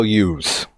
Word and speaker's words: Hughes: always loved that Miko use or Hughes us long Islanders man we don't pronounce the h so Miko Hughes is